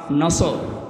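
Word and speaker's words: نصر: সূরা নসর কোন সূরা বলেন বলেন নসর নাসর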